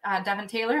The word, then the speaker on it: Devyn Taylor: Usually I have a little banter beforehand, but Devyn Taylor, am I pronouncing that correct?